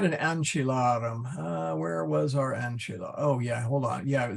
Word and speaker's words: ancilla: So here, the accent is on the A. Okay, whoop, let me put the N back in. Short, short, so accent is on the